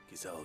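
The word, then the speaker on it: Gysahl: Gazelle greens. So that's how you pronounce that.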